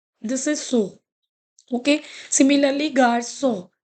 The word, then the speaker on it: garçon: Similarly, garçon. So if you'll not put it, we will pronounce it as a garcon. Garcon. Okay. So it is garçon.